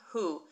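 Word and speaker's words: הוא: And we've got our silent letter aleph. So we're just reading who. If the aleph weren't here, we'd still read it the same way.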